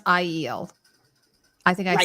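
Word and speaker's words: Aiel: by the way I was calling it I iel it's actually pronounced sorry it's pronounced iel I think I said i e l like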